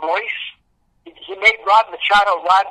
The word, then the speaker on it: Machado: He pronounced his name Royce. He made Rod Machado Rod Machacho.